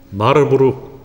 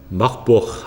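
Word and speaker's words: Marburg: 발음이 좀 그렇지요. 마르부르크 하는 분도 계시고 막부옥 하는 분도 계십니다. 저희 본토 발음으로 마부옥입니다.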